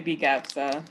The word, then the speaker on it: BGAPSA: We just say BGAPSA, but thank you so much for this.